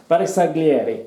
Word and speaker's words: Bersaglieri: Bersaglieri.